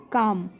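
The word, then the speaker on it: calm: Next है काम, काम। इसमें एल, जो एल है ये जब मैं प्रोनाउंस करती हूँ तो एल वर्ड की एल लेटर की साउंड मुझे नहीं सुनाई देती, ठीक है, तो एल साइलेंट लेटर है।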